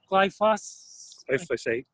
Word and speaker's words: glyphosate: active ingredient in roundup is why folks like phosphate or glyphosate I've been mispronouncing it for years now life life Oh Lord glyphosate why phosphate is the